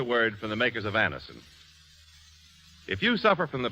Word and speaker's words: Anacin: Thousands of people have been introduced to Anison this way. Try Anison yourself the next time you suffer from the pains of a headache, neuritis, or neuralgia.